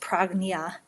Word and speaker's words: Prajna: And then the other style that I resonate with, Prajna Yoga, or accurately pronounced Pragnya, is a style that is out of Santa Fe, New Mexico.